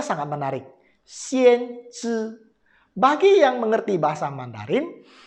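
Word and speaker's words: 先知: Bacanya sangat menarik. Xian Zhi.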